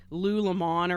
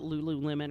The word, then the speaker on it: Lululemon: does sit like that when you spell it Lululemon but it looks like Lew LeMond or something like that but they call it Lululemon or yeah that's the